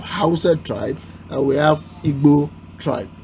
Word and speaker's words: Igbo: We have Yoruba tribe, we have Hausa tribe, and we have Igbo tribe. The word Igbo, the B sound, is not present in English, so I'm very sure you Westerners won't know how to pronounce that word.